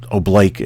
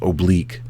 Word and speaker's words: oblique: uh the O oblique it's pronounced obl in the command but it uh that's only for the military uh oblake has only been a a military pronunciation it's actually pronounced oblique but all of this